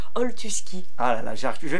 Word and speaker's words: Oltuski: En direct d'un canapé à Belleville avec, bonsoir, bonjour. Tu as dit comment? Mal prononcé? Oltuski.